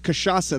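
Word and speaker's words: cachaça: me a shot of kashasa that's how you say it in portuguese and you'd be like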